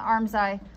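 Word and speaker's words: armscye: eye are gonna intersect does anybody know why they call it an arm's eye i don't know either and it's spelled really stupid so it's spelled arm psy like a scythe that you cut wheat with yeah so a r m s c y e arms psi arms eye weird now we're going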